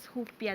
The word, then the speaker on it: Rupia: ink it's pronounced as hupia daw oh is that correct hupia in portuguese. It's so in Portuguese you pronounce R as H.